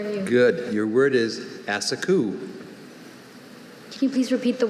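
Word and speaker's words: assacu: Asaku. Am I pronouncing it close? We'll tell you if we hear something wrong. Asaku.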